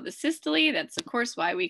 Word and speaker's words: systole: So the contraction phase we refer to as systole, and the relaxation phase is diastole, could also be pronounced systole or diastole.